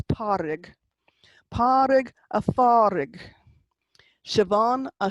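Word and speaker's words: Pádraig: Vic, Padrig, Parig, sorry, you don't pronounce the D in the middle of Padrig. You don't say Padrig, it's Parig.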